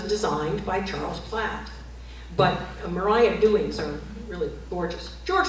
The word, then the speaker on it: Maria: Maria Dewing, and she did pronounce her name Maria, was his wife.